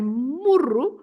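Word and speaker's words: murro: wall around the garden and that is muru with one R and muru A Punch Double R so and of course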